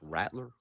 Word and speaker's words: Rattler: basically as a starter it's rattler rattler yeah rap rat like rap i mean rattler isn't necessarily wrong it's just it could be just how you say it but yeah it's rattler yeah rattler is right but if you want to just go rattler okay emphasize the rat part i wasn't trying to